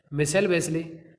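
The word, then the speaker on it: Michelle Bachelet: That girl, वह लड़की जिसका नाम था माइकल वेस्ले, या मिसेल बोल सकते हैं, यहाँ प्रोनाउंस दे रखा है, मिसेल वेस्ले, was elected president of chilli in January 2006, chilli की राष्ट्रपति के रूप में मिसेल वेस्ले 2006 में चुनी गई।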